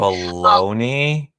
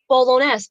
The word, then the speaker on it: bolognese: they have spaghetti so hungry how do you pronounce that bologna bologna spaghetti bologna i'm not italian baloney no spaghetti bolognese b-o-l-o oh bolognese olinase i don't know i